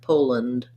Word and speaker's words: Poland: or this word pole make sure you do a nice clear long o sound and then rather than land with the af owl because this syllable is unstressed it just sounds like poland so there might be